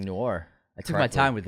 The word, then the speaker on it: Noir: think it would be really fun congratulations on pronouncing Noir I took my time with it I took